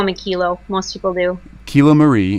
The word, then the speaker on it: Kiloie: so my first name is Kilo Marie, and last name is. And if it's easier for you, you can just call me Kilo.